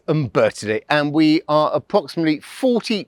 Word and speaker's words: Umbertide: People pronounce it Umbertide, but it's Umbertide.